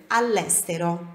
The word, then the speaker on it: all'estero: E anche, também, all'estero, parece uma palavra só, mas são duas, ou seja, no exterior, all'estero. A pronúncia é uníssona aqui, all'estero. Suoneremo, noi suoneremo, nós toccheremo.